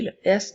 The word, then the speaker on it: les: reprends nous avons elles le l fait le son le E et le S ensemble font le son est donc les comme dans les filles les